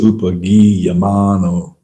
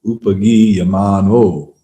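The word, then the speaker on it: upagīyamāno: You want to say upagiyamano. Upagiyamano. It was upagiyamano lalitam. The rhythm is dictated by the long and short syllables.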